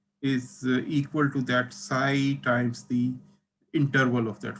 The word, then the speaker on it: xi: x i x i okay and it is pronounced psi okay psi so multiplied by psi so psi is a